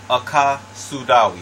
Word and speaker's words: AkaSudawe: AkaSudawe is how you pronounce it, and it simply means, out of the language of Akawu, it simply means universal way of health.